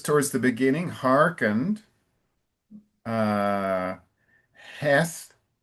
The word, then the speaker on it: Heth: And I it's the th that I didn't hear. The th th can be difficult. So, can you pronounce heth for me, Ellington? Heth. Heth. Okay. So, that's a good good thing to practice. Practice that with Pedro and Lucas because that sound th is not easy for Brazilians.